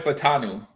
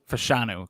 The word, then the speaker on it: Fashanu: Washington clear C uh Troy fanu fashanu close no te in there though okay unless the te's silent and invisible what his wait name